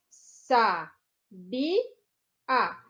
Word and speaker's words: sabia: a sílaba tônica então sa bi a o ar é a última o be é a penúltima então sabia é uma paroxítona já tá ou sábia